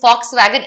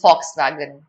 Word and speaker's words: Volkswagen: This is pronounced as Volkswagen. It is not pronounced as Volkswagen. No, I am deliberately saying Volkswagen because that's how it's pronounced. This is not an English word, my child.